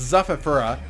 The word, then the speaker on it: Zaura: zaura zaura i he correct me in the proper pronounce last time it's zaura and Jet looks like